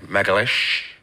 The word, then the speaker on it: Magalhães: Magalhães.